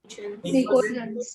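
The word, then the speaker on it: pnictogens: निकोजेंस। P silent होता है, ठीक है?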